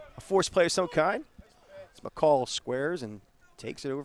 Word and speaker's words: McColl: wheels around tries to chase him back john mccall john mccall yeah grew up with his uh his dad